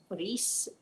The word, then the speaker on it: Rhys: I had my grandson Reese. Just for those of you who thought he was beautiful, can I just tell you that his name is spelled Rhys? It is the Welsh spelling.